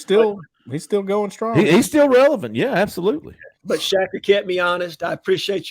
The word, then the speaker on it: Shaker Jack: And remember, he came back and he was like, all right, my bad, and he's now Shaker Jack, but he pronounces it Shacker.